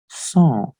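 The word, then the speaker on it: sont: which is so remember we don't pronounce t at the end of any word so that's the reason i am just pronouncing it as song and one more thing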